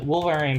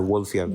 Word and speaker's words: Wolffian: directly part of the Wolverian pathway? It's not called the Wolverian pathway. It's called the Wolffian pathway. You're pronouncing it incorrectly.